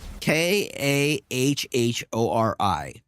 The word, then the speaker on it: Kahhori: K A H O R I. There's no T in there. There's no T in there. I am not pronouncing it. It's Kahori.